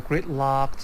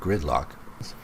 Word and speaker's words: great luck: Similar pronunciation, To which means you have a great luck and I'm guessing you wanted to say great luck, but it really sounded like gridlock to me. Great luck, not gridlock.